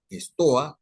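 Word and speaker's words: στοά: Los estoicos, la palabra estoico viene de la palabra estoa, un término griego, estoa, comienza en S, estoa, así como se oye, aunque en algunos textos se escribe estoa, comenzando con E, ¿no?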